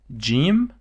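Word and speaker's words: جيم: And then we have jim, which is j. It is not g, it's the j. It's somehow very close to j in English.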